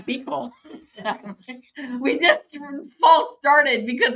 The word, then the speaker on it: Buechel: She said to say her name Belel.